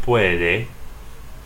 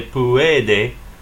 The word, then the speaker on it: puede: a word like puede you have to ask yourself would that be three syllables so in other words would it be theoretically it could until you realize that u is a weak vowel and so the rule says a weak vowel can't stand in its own syllable over here with the